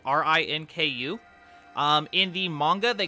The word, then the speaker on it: Rinku: you're consuming if you the dub name is Rinku r-i-n-k-u um in the manga